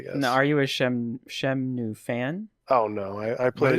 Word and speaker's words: Shenmue: It's Shenmue.